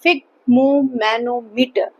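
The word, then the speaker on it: sphygmomanometer: इसमें आपका S silent रहता है, इसको हम बोलते हैं फिग्मोमैनोमीटर.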